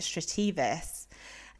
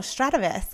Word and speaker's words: Strativis: But because of my British background, I kept pronouncing it Strativis. And it didn't really run like off the tongue in a good way. So I was like, it's on the fence. But then I sent the name to my husband, who called me straight away and was like, oh, Strativis, I love that name. And I'm like, that's how you say it.